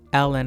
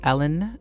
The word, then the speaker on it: Ellen: I don't know why I said Elin, because I have a friend named Elin and it's spelled the same way. But Ellen, her name is Ellen, and she married Charlie